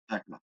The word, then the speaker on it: Thekla: How do you pronounce that one? Yeah, Tekla.